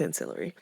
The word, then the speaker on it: ancillary: is called ancillary probate I think I'm pronouncing that ancillary yeah it's ancillary and all that means